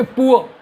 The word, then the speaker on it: poor: और हमने अभी आपको बताया कि आर बोलते नहीं, तभी तो हम इसको बोलेंगे पुआ, क्योंकि ऊ आ रहा है।